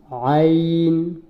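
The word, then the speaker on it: ع: আইন, আইন বলবো না, আইন বললে ভুল হবে। আইন।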